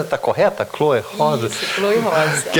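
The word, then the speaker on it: Cloe Rosa: A pronúncia está correta? Chloe Rosa? Isso, Chloe Rosa.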